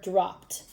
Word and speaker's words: dropped: Does the ed sound like ed? Dropped, ed. Does it sound like t? Dropped, t. I think we heard it right here. Dropped. Makes a t sound at the end even though it's ed.